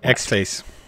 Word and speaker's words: xfce: three no a mocking how i pronounced xfce x effector x OC x face pronunciation if you look at that star in word cuckoo nest yes you come up with x face xfig that's a villain